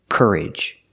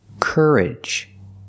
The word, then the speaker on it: courage: word is courage pronunciation courage use the ER sound like Burger Kerr Cur and the short sound courage courage you faced a terrible